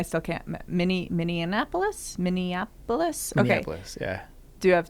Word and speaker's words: Minneapolis: we were in Minneapolis which I believe it is an eapolis not many Annapolis but I can't get out of my head that it is Minneapolis because it rhymes with Indianapolis because of the Twin Cities sure think of it as Annapolis but a mini one Minneapolis Minnesota it's just